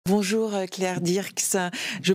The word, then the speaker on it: Dierckx: Bonjour Claire Dirks, je prononce bien votre nom déjà ?